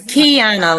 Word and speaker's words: Quiana: It's Kiana, like you put a key in the door.